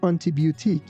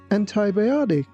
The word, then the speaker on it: antibiotic: Please don't say antibiotic. It's antibiotic.